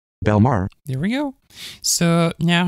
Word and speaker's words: Bellemare: Yeah, is still not the right pronunciation. Anyway. Belmar. Belmar.